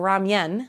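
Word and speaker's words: 라면: It's like ramen or ramyeon, which is what I grew up saying cuz I think that's how it's pronounced in Korea.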